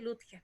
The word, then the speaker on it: Lutges: porque originalmente tenía Cremillas y habría sido Litges, pero en el tiempo de la Segunda Guerra Mundial, cuando mi abuelito se vino, porque era radiotelegrafista y todo eso, él le sacaron las cremillas, así que ahora se pronuncia fácilmente Lutges nomás, así que Ah, no